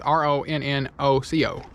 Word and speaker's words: Ronnoco: I said it wrong. It's RONNOCO. Freaking awesome stuff.